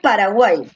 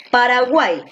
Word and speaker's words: Paraguay: última penúltima antepenúltima ahora paraguay donde lleva la mayor fuerza de voz en la última caja en cual cierto porque tú dices paraguay tú no dices paraguay paraguay tú dices paraguay en la última si lleva en la